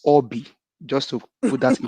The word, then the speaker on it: Obi: The name is not pronounced Obi, it's Obi.